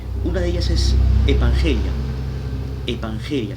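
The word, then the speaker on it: ἐπαγγελία: Evangelia se escribe E-P-A-N-G-E-L-I-A, evangelia.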